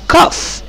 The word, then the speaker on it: cough: Number three، I have a cough، GH هنا هنطقها ف sound.